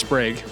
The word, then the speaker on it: Sprague: We learned that it's actually pronounced Sprague. Sprague. Remember that, Sprague.